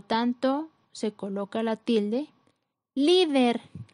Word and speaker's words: líder: Líder, la sílaba con mayor fuerza es li, que es la penúltima sílaba, cumple con la regla, termina en R, por lo tanto se coloca tilde.